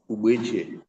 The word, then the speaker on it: Ugbechie: Ubeche. Ubeche. That is initials. Ubeche is spelled UGBECHIE.